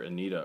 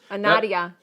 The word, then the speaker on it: Nadia: I think it's pronounced Nadia. Nadia Riviera wants to know, what's the best storage unit you guys ever bought? I called her Anita earlier. Anita? Nadia.